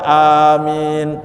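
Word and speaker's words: آمين: yang salah itu ya amin itu bacanya Anya panjang minnya panjang ya kalau bacanya amin itu artinya perintah amankan padahal Amin itu artinya istajib doa anak kabulkanlah permohonan kami tapi kalau bacanya Amin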